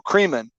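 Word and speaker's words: Kremen: in 1994 and gary creman yes that rhymes with oh cremin yes that rhymes with semen is what they even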